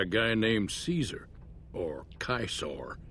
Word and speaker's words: Caesar: this game is pronounced Kaisar is because in Roman times, uh, the C was pronounced was pronounced Excuse me. So the C was pronounced as a hard C. Instead of Caesar, it's Kaisar.